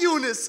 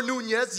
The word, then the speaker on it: Yunus: Mispronouncing Yunus was a pastime, a punchline to a joke. No, it's not Jonas or Nunez.